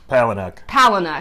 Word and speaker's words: Palahniuk: It's by Chuck Powell. Palahniuk, I believe is how you pronounce it.